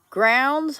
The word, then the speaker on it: Grounds: says she hears me grounds Family Farms in here grounds rhymes with crowns so uh let's see